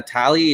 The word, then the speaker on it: Talie: Annette is it uh tally is that how you pronounce Italy Okay cool so the emphasis is on the second syllable gotcha here with Annette